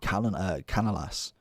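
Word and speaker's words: Canales: you could link him with the new informed Canalas.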